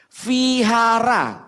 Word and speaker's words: vihara: Vihara, orang baca vihara kita ketawa. Ketawanya 2 hari 2 malam lagi. Kok bacanya vihara? Bukan, setiap V bacanya jadi W.